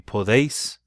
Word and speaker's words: podéis: But it would be pronounced for poder, it would be podéis.